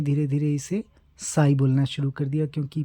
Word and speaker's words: psy: यूज किया जाता है पी को साइलेंट रखते हैं प्रोनंसिएशन में लेकिन स्पेलिंग में पी एस वाई इस तरह से यूज करते हैं तो यही है इसका